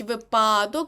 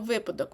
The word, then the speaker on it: випадок: деколи це слово типу не кажіть випадок бо буде припадок тому правильно випадок можете теж собі так асоціативно запам'ятати витрата тому що витратити